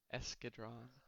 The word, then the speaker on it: Escadron: in their twitch chat we've got some pronunciation help let's go take a peek oh I see escadron front escadron okay okay escadron suicide with one do